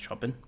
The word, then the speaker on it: Chopin: I think it's pronounced Chopin.